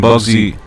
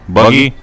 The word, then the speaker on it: Buggy: can Captain Bugsy detach everything? Buggy? Well, everybody got his name wrong in the anime It's fine.